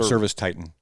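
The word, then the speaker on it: ServiceTitan: Or no, Service Titan. Certain Titan. Service? Dude, I'm getting tongue tied. Service Titan. Yes, as in Titan.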